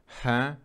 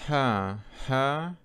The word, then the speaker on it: her: «her», которая является оскорбительным словом, поэтому постарайтесь her произносить правильно. Her, вот такой звук. Как э, только задняя спинка языка, как при о, напрягается. О, her, получается. Или второй вариант. Ha.